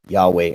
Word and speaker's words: Yahweh: in ancient times and he wound up with this ancient pronunciation Yahweh and I think that's very